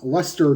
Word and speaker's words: Leicester: The Orioles have called up John Lester, not that one. It's spelled like the city in the UK, so it looks like Leicester.